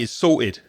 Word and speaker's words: sorted: I might say to Raza, "Oi, mate, it's sorted." So, from London, I wouldn't pronounce the T.